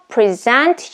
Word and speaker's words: present: second present is used as a noun so that's why we put stress differently and here's a second